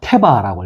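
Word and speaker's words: תבה: 뭐냐면 테바라고 읽어요.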